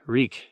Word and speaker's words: Reek: piss his britches wreak reek it rhymes with leak is that your answer